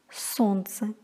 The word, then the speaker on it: солнце: ЛНЦ произносится как НЦ, например, солнце.